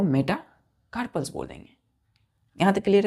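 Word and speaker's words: metacarpals: पांच long bonus को हम क्या बोलते हैं मेटाकार्पल्स are called M ई टी A Meta C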